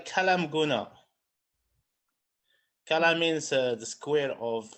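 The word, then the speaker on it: Kelaat M'Gouna: It's called Kalam Guna.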